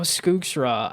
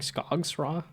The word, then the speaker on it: Skooks Raw: Oh, Skooks Raw. I absolutely love Skooks Raw, which I that's how it says it's pronounced, but it looks more like Scogs Raw.